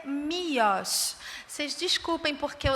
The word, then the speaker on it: Miłosz: E o nome dele é Miłosz. Vocês desculpem, porque eu estou fazendo a pronúncia polonesa, eu pesquisei, porque eu